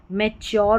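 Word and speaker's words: mature: यहाँ पर देखिए सिक्योर हो गया, ये मैच्योर हो गया, यहाँ पर मैच्योर हो गया, ये पैटर्न अलग आ जाता है पिक्चर।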